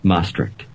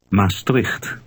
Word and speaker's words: Maastricht: Here's how the Dutch pronounce Maastricht. Luisteren en herhalen. Maastricht.